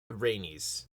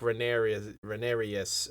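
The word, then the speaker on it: Rhaenys: between Allison and uh rainey's I think I always say her name wrong uh that was that was right well that time I did I called her like renarius or something earlier I'm pretty sure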